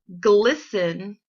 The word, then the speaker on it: glisten: So look for 3 other words that have the silent T. When you find them, come back to the lesson. All right, hopefully you found them. Put them on your chart. Let's check and see if you've got the right words. You should have found listen, glisten, and soften.